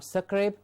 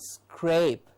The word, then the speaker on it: scrape: screen absolutely scream scrape not succrabe but scrape and we have scrutiny